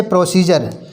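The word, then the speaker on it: procedure: Rule कहता है जब किसी शब्द में डी के बाद यू आर ई, आई ई आर, ई यू आर, यू ए टी ई या यू ए एल आए तो डी का उच्चारण जा होता है।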